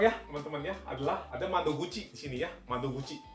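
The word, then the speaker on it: 窓口: Boleh dipikirkan dulu ini kanjinya bacanya apa coba? Gampang ya teman-teman ya. Adalah ada mado guci di sini ya.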